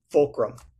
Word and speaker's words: Fulcrum: And how do you pronounce the company name specifically? Fulcrum.